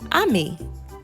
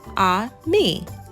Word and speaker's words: ami: say friend in French the word is Ami my mom says you say it like this ah me I love French everything